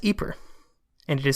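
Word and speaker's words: Ieper: for the city but the city is actually located in the Flemish region of Belgium and I am told they pronounce it as eer and it is spelled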